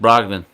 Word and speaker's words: Brogdon: I forgot his name is pronounced Brogdon.